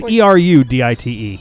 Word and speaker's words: erudite: i know we're cool is it erudite air you day if that's erudite every day it's ER you di te yeah I know it's